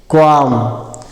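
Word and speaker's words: qualm: L silent हो जाएगा और यम से म हो जाएगा। कयाम क्वाम।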